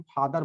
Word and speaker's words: father: इसी प्रकार से कोई भी वर्ड है, जैसे आप इंग्लिश में जैसे हम फादर बोलते हैं, FATHER, तो फादर के केस में देखिए क्या होता है कि आर साइलेंट होता है, यहाँ ध्यान दीजिए।